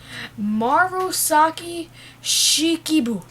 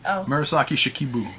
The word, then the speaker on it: Murasaki Shikibu: rope shizuku wait i'm going to try and pronounce this name marusaki shikibu nice try mirasaki murasaki shikibu yeah i think it's japanese yes and it